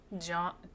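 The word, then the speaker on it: Jeon: Uh, Wanu, pronounced John. John Wanu, like John but with a little extra flare.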